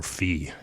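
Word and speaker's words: phi: it out it's also the Greek for that is is fi or fee is the way you pronounce it and the Greek letter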